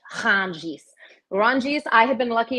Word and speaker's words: Rungis: And that is now one of the largest markets in the entire world called Rungis, but you have to pronounce it French, Rungis.